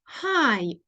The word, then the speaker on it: high: давай take виміряємо його твою температуру оу Its High О вона висока дивіться J H не читається але попередній звук вимовляється як в алфавіті